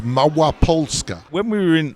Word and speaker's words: Małopolska: so the region that we're in is called Mawa pska when we were in Lodge we were actually